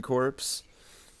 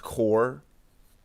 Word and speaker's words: corps: california constipation corpse constipation corpse oh yeah isn't it pronounced core core whatever i just call it corpse because i just i